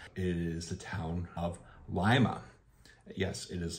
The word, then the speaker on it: Lima: after lime Connecticut so you can kind of see where you get that lime Lima word from the way we pronunciate